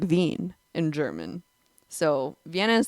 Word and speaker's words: Wien: the origin of the word wiener Vienna is pronounced like ven in German so Vienna is the capital of